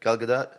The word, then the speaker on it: Gadot: Galgadot.